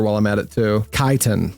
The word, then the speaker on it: Chitin: Kaiten. Is that how you're supposed to pronounce it? Kaiten? Kaiten. I guess that would make sense. Like I'm not used to pronouncing ch like ch like k, but I know that there are some times when that's correct. I didn't even think about that.